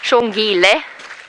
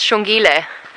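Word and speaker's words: Xongile: far as I know shile the correct way to spell it the sh sound is X XO o n g i l e I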